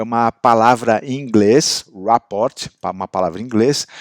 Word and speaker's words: rapport: falo francês que eu não vou me arriscar numa pronúncia aqui em francês mas em inglês é rapport e o que que